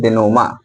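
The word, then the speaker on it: dénouement: इसका शुद्ध प्रोनाउंसिएशन होता है डेनोमा, डेनोमा, है ना, याद रखिएगा।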